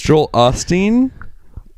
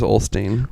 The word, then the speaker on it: Osteen: It's Joel Osteen. I always have put an L in there. I could have swore it was Olstein.